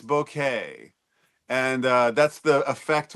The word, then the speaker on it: bokeh: I always hear this word mispronounced in in English that people call it bokeh or bokeh, but it's bouquet.